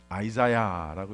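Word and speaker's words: Isaiah: 어떻게 발음하나 했더니 아이자야라고 이렇게 발음하더라고요.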